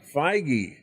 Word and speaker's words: Feige: How do you pronounce his name? I was looking up J.D. Dillard. Kevin Feige. Feige.